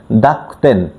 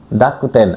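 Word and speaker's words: 濁点: তেনতেন এবং মারুকে জাপানিজের তেনতেনকে বলা হয় দাকতেন। ডাকুতেন।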